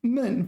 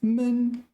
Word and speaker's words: 闷: So sometimes it's 闷, fourth tone, sometimes it's 闷. But unlike other characters, the pronunciation of this character does not affect its meaning so much.